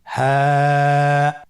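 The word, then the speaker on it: ه: আপনারা আমার সাথে বলুন হ্যাঁ। হ্যাঁ হরফটি উচ্চারণের স্থান কণ্ঠনালীর শুরু হতে, অথবা আমরা যদি আরবিতে বলি হলকের শুরু হতে এই হরফটি উচ্চারিত হয়।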